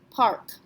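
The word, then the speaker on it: parc: we're going to pronounce it we're going to pronounce it kind of like a k so we're going to say Park how about the next one j s t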